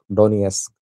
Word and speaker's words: Donetsk: I have covered that war a little, so I know Luhansk, Donetsk is the correct pronunciation.